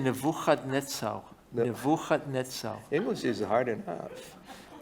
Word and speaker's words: Nebuchadnezzar: Nebuchadnezzar. Although 발음이 in 그래요. Hebrew we also say Nebuchadnezzar.